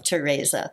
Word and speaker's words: Tereza: Well, the Z in there, I have tried to kludge so that it has that more exotic pronunciation of Tereza.